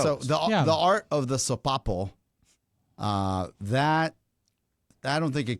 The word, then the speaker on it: Sopapo: I will tell you, Sopapo with Sopapo. Sopapo with an S. with an S. This is the way you're going to pronounce it.